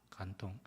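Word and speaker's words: 感动: 중국말로는 간동입니다. 간동. 중국말, 한국말 발음 상당히 유사합니다.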